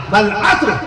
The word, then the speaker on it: عصر: پہ زبر لگائیے، ترجمہ۔ ایسی عصر کی نماز نہیں، عصر کی نماز پڑھنے جا رہا ہوں، نہیں عصر نہیں، اللہ نے قرآن مجید میں باقاعدہ تلفظ بتا دیا، والعصر قسم ہے زمانے کی، والعصر عصر نہیں فرمایا اللہ نے۔ ایسی فجر نہ